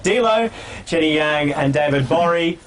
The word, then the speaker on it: Gborie: DLO, Jenny Yang, and David Borie. Spelled Gbori. Gor Gori. The G is silent.